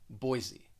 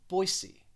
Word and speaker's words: Boise: but i think when most americans say this city they're going to pronounce the s more like a z boise boise however locally people